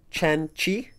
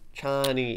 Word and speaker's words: Chani: Okay, it's Chen. Is that right? Chen Chi. Chani. It's Chani. You're so dumb.